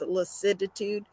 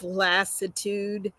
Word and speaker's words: lassitude: was fatigue and lassitude on the video I pronounced ounc it as licid itude it's lassitude um day five is